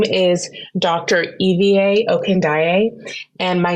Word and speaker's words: Ivie: my name is Dr Eva okand and my name is it looks like Ivy people think I'm spelling my name but no it's spelled IV i e but pronounced Eva okay so um my